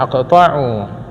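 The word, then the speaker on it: أقطع: la yubd fihi bibismillahirrahmanirrahim fahua aqta aqtau aqta bacanya aqtau Kullu Amrin zalin la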